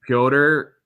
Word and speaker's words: Pyotr: so i'm going to call him peter but it's more like pyotr uh kochecov who's come